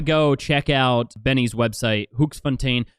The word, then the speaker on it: Hoeksfont: Hooks Fontaine. Is that Am I saying it right? Hook Fontine. Yeah. Okay.